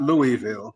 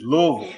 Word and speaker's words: Louisville: It's not Louisville, you know, just for our listeners, it's Louisville. You know, you got to say all in one. all in one rhythm.